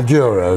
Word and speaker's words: Douro: Michael, the reason I wanted to interview you in particular is because I saw your film Down the Douro. Is that how I'm pronouncing it? Down the Douro, yes.